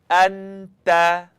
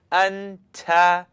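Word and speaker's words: أنتَ: Anta, anta, anta. Now, if you were saying it wrong, you'd hear something like anta, t, t.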